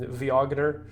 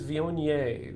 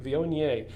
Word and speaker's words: Viognier: and so you know it looks like it's pronounced um viogner uh or wagner as some people very uh deliberately proclaimed but but it is vionier vionier and it is a grape that quite frankly